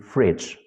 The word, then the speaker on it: fridge: You want to mean fridge, but you're pronouncing it as freeze.